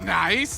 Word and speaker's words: NAIC: Beyond excited of course niic is pronounced nice and that's exactly what